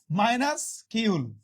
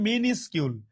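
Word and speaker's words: minuscule: সবাই কমেন্ট করি মিনিস্কিউল, এই উচ্চারণটা কিন্তু অনেকে ভুল উচ্চারণ করে, মিনিস্কিউল, নট মাইনাসকিউল।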